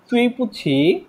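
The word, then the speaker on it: 对不起: আমার সাথে একটু দুজনেই বলেন, এটা দুই হবে না, এটা হবে তুই, তুই পুছি, তুই পুছি, দুজনেই বলেন।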